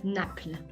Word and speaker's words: Naples: is naples italy and in french it is spelled exactly the same just pronounced slightly different lee it is um napla we are being different